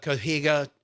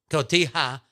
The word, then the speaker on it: Cotija: So I just ran in the back, grabbed some corn, grabbed this herb tahini, threw some onions instead of cohiga. How do you say it, Christian? Cotija cheese.